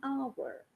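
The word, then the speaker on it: hour: at this word now we see H here but we hear a vowel sound because the H is silent now remember to rule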